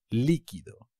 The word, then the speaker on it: líquido: lindo tío liquid líquido muy fácil pero cuidado ti un acento en la primera I líquido ready listo listo are